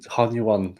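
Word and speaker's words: Hunyuan: yeah exactly for half an hour this morning Han you won Han you won right anyway and as I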